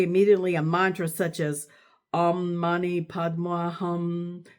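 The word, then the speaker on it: Om Mani Padme Hum: a mantra such as Om Mani Padma Hum, pronounced by Tibetans Om Man Padma Hum.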